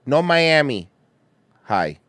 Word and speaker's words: North Miami High: Or, as Miami MILF knows people there call it, No Miami High. No Miami High. For real, that's how they say it. That's how my grandparents said it anyway.